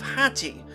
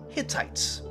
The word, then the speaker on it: Hatti: cities, they'll still be called the people of Hatti, which the Israelites are going to mispronounce in the Bible as Hittites.